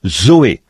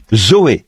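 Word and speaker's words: ζωή: sert du même mot que l'on prononce "zoé", Z O E, "zoé", la vie.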